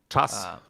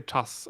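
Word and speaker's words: czas: Your vowel is too closed. Chas. You're too far back in the mouth.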